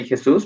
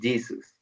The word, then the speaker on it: Jesus: just keep in mind the pronunciation of the word Jesus you don't say hey Zeus but Jesus okay but thank you